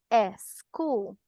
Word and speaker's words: school: Incorrecto que digamos school. ¿Por qué? Porque inicia con S y sigue consonante. School. School. Nada más, chicos. Y salgo de práctica todos los días para que esta pronunciación se quede con nosotros, chicos. Cualquier palabra en inglés que inicie con S seguida de consonante, solo este sonido.